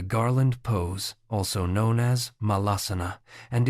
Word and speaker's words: Malasana: Malasana, pronounced ma-laz-oo-noo, is commonly called the Garland Pose or Full Squat Pose.